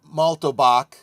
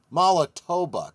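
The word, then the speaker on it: Mallatobuck: Chebbaca's wife uh Malttobach Malttobach um Mala Mala Tobac I'm sorry I was mispronouncing that prepares for life day celebrations by watching a cook cooking show starring Gormanda played by Harvey Corman.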